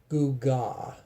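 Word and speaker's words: עֻגָה: That is Strong's number 5692, pronounced as gugah, a cake baked under hot cinders, such as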